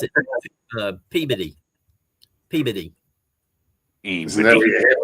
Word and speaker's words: Peabody: There's a town in my state called Peabody, and people say Peabody Yep. when it's actually Peabody. Peabody. They pronounce it Peabody.